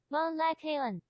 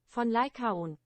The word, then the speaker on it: Von Lycaon: Vaughn Lycaon. Yeah, that's why I did that. That's why I did it. Vaughn Lycaon. Translate from German. Von Lycaon. Von Lycaon. Amazing. So I definitely said it wrong.